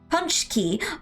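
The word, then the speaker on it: pączki: Punch key. Oh, it's pronounced punch key.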